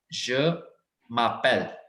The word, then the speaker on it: je m'appelle: अलग अलग नहीं है, ये एक साथ से वर्ड्स हैं। मतलब म को मर्ज करना आपने एक के साथ, क्योंकि हमने यहाँ पे ई कट करा है।